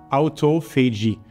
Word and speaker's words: autophagy: This is pronounced autophagy, not necessarily with my French accent, because it was actually discovered by the Japanese scientist, Dr.